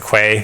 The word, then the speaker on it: Quay: You can imagine that these containers can be built automatically using a CI system, and like we have we pronounce it Quay because we're not familiar with the word, but